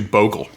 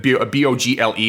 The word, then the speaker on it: bogle: I just don't see where the O would get the hard sound from.